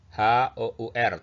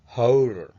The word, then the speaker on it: hour: Contoh kata ini, H-O-U-R tulisannya ya. Ini dibacanya bukan hour, tapi hour. Jadi ini mirip vokal, jadi hanya diucapkan vokal, hour.